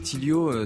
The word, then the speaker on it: Tilyo: Tilio, ça s'écrit Tilyo.